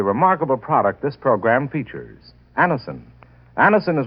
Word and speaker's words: Anacin: You can get Anison at any drug counter.